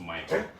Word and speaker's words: Mihkel: It's spelled Mihkel. The album's called, it's pronounced Michael.